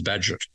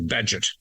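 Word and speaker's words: Bagehot: And I thought it was bad. It's actually bad.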